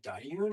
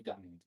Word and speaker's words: Dahyun: It's not Dahyun, it has to be Dahyun.